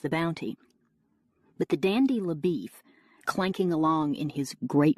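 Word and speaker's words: LaBoeuf: good-looking Texas Ranger named Leff who has already tracked Cheney over several States Leif whose name is spelled labuff and who is somewhat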